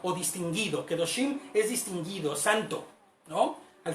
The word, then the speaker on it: Qedoshim: Y veía yo que decía que no se escribe con K, se escribe con Q y la E no se pronuncia. Aunque se escribe Kedoshim, se pronuncia Kedoshim, como sin la K, ¿ok?